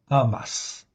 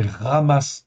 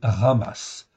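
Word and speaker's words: חמס: has mais en réalité c'est un H qui se prononce comme un comme un r ça vient du fond de la la gorge c'est presque un r donc c'est ramasse en réalité le vrai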